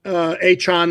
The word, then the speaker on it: Achane: And then you had the 67-yard touchdown run by Devon Achane, as he's now pronounced.